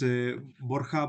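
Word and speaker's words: Borja: Is it Borha or? Yes, in Spanish is Borha, but Borha Borha is okay.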